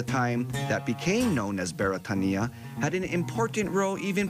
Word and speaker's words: Beretania: a hawaiian word thus the correct pronunciation of beretania is beretania which translates as britain